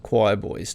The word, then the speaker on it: Quireboys: And then just before COVID hit, actually, there's a UK band called the Choir Boys, not to be confused with the Australian Choir Boys. The UK band is spelled QUIREBOYS, and they're kind of